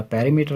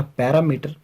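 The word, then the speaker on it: perimeter: अच्छा, ये बात थोड़ी सी ध्यान में रखनी, this is नॉट अ पैरामीटर, this is पेरीमीटर। Spelling भी पैरामीटर से थोड़ी सी डिफरेंट है। समटाइम हम इसको इसके स्पेलिंग की वजह से सही तरह प्रोनाउंस नहीं करते।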